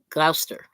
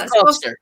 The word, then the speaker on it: Gloucestershire: It is Gloucester. Okay, yeah, I want to make sure I had that right. Yeah, okay. That's the Loving Locals shortening it. It's actually Gloucestershire. Okay. Oh. But it's spelled Shire. It is Shire, but they spelled Shire, but said Shire.